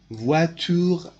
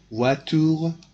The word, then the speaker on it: voitures: It is a plural form of the noun, but this S is not pronounced. It is written, but it is not pronounced in the words. Voiture, one car, voiture, cars, but it is not pronounced.